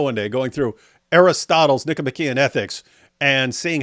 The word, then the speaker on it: Nicomachean: You said it wrong though. You said Nicomachean. You're supposed to say Nicomachean.